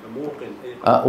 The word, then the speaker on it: موقن: قبلها فيقولون رجل موسر موقن موقن فتح الله عليكم اصلها ميق لانها من اليقين احسنت سيدي انتبهتوا كيف هيك